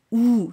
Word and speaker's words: ou: O en francés es ou, se pronuncia como la O española, ou.